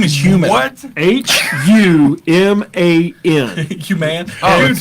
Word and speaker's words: Human: H U M A N. Human. I get called Humane. Human, not Chinese.